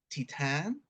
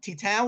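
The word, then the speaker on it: Titane: happens next I have I think it's pronounced Titan because it's French uh directed by Julia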